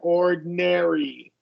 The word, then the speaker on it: ordinary: And we want to do a short E for that A there. Ordinary.